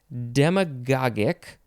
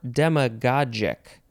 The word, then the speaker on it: demagogic: next word hi yeah demagogic or demma let's see demagogic or demagogic God jik or God gick d-e-m-a-g-o-g-i-c you could also say demagogic because that's kind of how it's spelled demagogic adjective from 1831 of